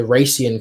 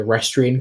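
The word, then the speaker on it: Rhasia: guys grew up in like the Rian Kingdom um that is that's spelled r h a s i a I know that I think in the last episode we we both kind of slipped into calling it The restan Kingdom well you know I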